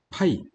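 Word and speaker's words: π: 자, 이 기호는 파이라고 있습니다. 자, 뭐라고 읽는다고요? 파이. 자, 초코파이처럼 파이.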